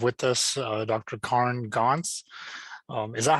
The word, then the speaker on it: Goncz: today we have with us uh dr karn gonz um is that how you say your last